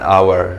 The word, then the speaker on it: hour: Okay, midda labaad when h is silent. when the h is silent. h-ga hadduu yahay silent oosan lagu dhawaaqayn. for example an hour.